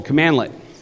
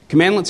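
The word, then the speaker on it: cmdlet: today is called a commandlet it's literally pronounced commandlet and that is spelled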